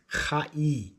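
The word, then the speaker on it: חי: It is spelt chet yod. Chet yod. It's pronounced chai. Chai. It means life.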